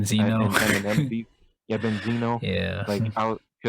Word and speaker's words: Benzino: because I was literally listening to like the Ben Enzo, I think that's how you say his name, Benzino.